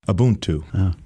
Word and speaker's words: Ubuntu: we that's really special so how do you pronounce Thornton a boon to beautiful yeah it's a Zulu term and you